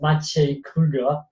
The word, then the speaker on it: Maciej Kruger: It's a Polish name. Everybody has trouble with that. It's pronounced Maciej Kruger.